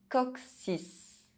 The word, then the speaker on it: coccyx: Double C followed by E, I, or Y, one of the soft vowels, is pronounced X. Coccyx, succès.